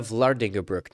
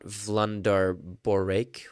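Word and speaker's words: Eva Vlaardingerbroek: Or to this very country, where wait, it's Eva Vlardingerbroek, not Vlandar Borek.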